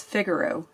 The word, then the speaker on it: Figaro: It's Figaro.